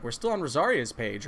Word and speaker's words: Rosaria: Rosaria, or Rosalia? Wait, what? Have I been saying it wrong? No, there's just a random L in here because of Google Translate.